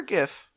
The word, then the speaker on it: GIF: GIF or GIF? It's definitely GIF. Because it's a G stands for graphic. Well, and also like just hard G is way more common than soft G.